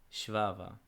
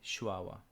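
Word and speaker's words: ܫܒܒܐ: But because most people within the Eastern Syriac branch pronounce the vet as a w, it's written here with a w.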